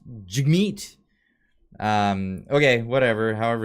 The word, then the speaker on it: Jagmeet: I've said his name before, and people will correct me. It's pronounced Jagmeet.